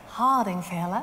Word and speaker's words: Hardingfele: Hardingfele. Hardingfele. Yeah, exactly. Very good pronunciation.